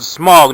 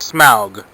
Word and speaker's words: Smaug: talking about the dragon, they were pronouncing it Smaug, not Smaug, and everybody's like, and now Now it's like everybody's saying Smaug. You just because it's spelled that way doesn't mean it's said that way.